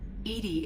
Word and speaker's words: EDI: EDI is the phonetic pronunciation of EDI. That is an acronym for Enhanced Defense Intelligence.